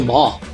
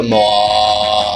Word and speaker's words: Maw: I'd like to see the mall. It's not there. Of course it's not on the No, list. wait, no, it's pronounced the Maw.